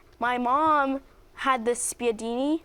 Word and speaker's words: spiedini: My mom had this spiedini. It's like you gotta say it like this, spiedini.